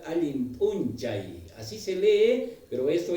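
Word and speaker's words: Allin p'unchay: Se escribe punchau, pero nosotros en la pronunciación vamos a manejar Alimpunchay.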